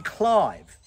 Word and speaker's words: Clive: which makes sense because she wasn't Lady Cliv. She was Lady Clive.